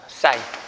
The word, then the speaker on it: sin: 그래서 빗변과 높이를 짝지은 걸 우리가 뭐라고 하냐면요, SIN이라고 일반적으로 쓰고요. 읽을 때는 사인이라고 읽어요. 사인.